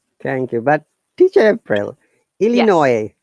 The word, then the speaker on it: Illinois: you but teacher april illinois that is s but we don't pronounce it illinois the state oh now